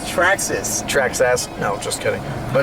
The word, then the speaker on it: Traxxas: the Trex SRC cars everything tracks ass it's pronounced Traxxas Traxxas no just kidding oh no we were